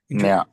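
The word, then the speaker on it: ज्ञानम्: So whenever Ajay Prabhu, whenever you read the sloka, whenever it is JN, right? Yeah. So J Yeah. is silent. You just put Upadekshantite Jnanam, Jnaninas Tattvadasha. Jna. It will become Jna. Nya. Jna. Nya. Okay.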